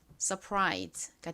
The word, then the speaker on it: surprise: 원래 소리가 나는데 여기서은 거의 소리가 나지 않습니다. 묵음이라고 생각해 주시면 됩니다. 그래서 su까지 서라고 발음이 되고요.